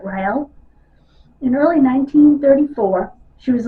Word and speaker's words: Riel: foreign I think that's how you say it Rael in early 1934 she